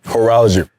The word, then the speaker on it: horology: Horology. Sound different when you say it. See, horo, the Greek Greek word for time, and then horology is the study.